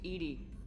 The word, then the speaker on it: EDI: airlock is a jar why are you named Edie Ed is the pronunciation of e d i that is acon